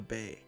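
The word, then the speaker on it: 米: like the the grain sticking up here uh pronounced Bay not to be confused with a rice Patty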